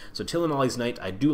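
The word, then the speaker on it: Tilonalli's Knight: Tillanali's Knight.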